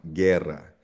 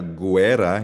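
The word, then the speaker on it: guerra: yung hard G sound, guera or gitara. Gitara. Silent ang letter U dito ah. Hindi siya gerera.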